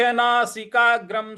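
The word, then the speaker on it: नासिकाग्रं: है आघात देना है और जो अनुस्वार है उस पे म का उच्चारण ले आएंगे और स्व के ऊपर जो अनुस्वार है उसके आगे वहां पे हम जो अनुस्वार है उस पर न का उच्चारण ले आएंगे तो यह हो जाएगा आपका संप्रेक्ष नासिकाग्रम स्वन संप्रेक्ष नासिकाग्रम स्वन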